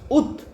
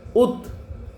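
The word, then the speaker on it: août: Where do we pronounce very fast? Ut. A-O-U, circumflex T. Ut.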